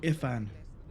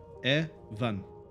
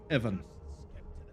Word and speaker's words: Ifan: one pronounces it as Ian don't no no no Ian I'll this is Ian Evan Evan just like Evan E V A an